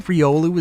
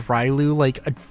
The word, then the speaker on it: Riolu: So is mispronouncing Riolu as Rylu like a super common thing?